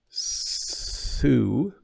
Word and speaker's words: sue: So like the whistly S sound, Sue, or like a vibrating Z sound, which the Americans call Z, zoo.